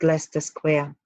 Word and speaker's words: Leicester: While Leicester Square, pronounced Leicester Square, is in London's West End, the square, famous for its cinemas.